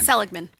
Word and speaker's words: Seligman: Seligman. See, it's kind of like a hitch in the middle. There's no flow.